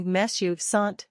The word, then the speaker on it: mes: means my eyes are note that in this case you pronounce the S at the end of me because the next word begins with a vowel four describe your overall